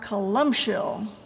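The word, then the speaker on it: Columcille: It's based on a hymn spelled C-O-L-U-M-C-I-L-L-E, which according to Mr. Google is pronounced Columshill.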